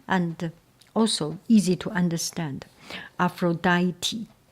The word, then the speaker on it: Aphrodite: Aphroditi Aphroditi thank you for pointing me out. I think previously I pronounced Aphrodite.